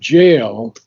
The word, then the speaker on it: gaol: the word jail is the American spelling of British Ah, GAL. okay. And So Sri it's pronounced Aurobindo, as jail.